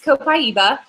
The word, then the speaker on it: copaiba: and people always wonder like how do you pronounce that one so uh this is copaiba and it's got a really light light refreshing